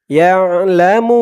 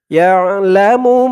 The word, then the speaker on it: يعلم: ইয়াশফাউ ইনদাহু ইল্লা বিইযনিহ, ইয়ালামু মা, ইয়া দিয়ে আইন ধরবে, ইয়া, আইনের উচ্চারণটা গলার ভিতর থেকে শক্ত হয়ে আসবে, ইয়া লা মু, ইয়ালামু